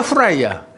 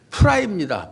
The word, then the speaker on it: 프라이: 후라이야? 계란 후라이야? 계란 프라이야? 프라이입니다. 프라이. 영어 첫자가 뭐예요? F잖아요. F. F나 P는 피읍으로 발음하는 거예요.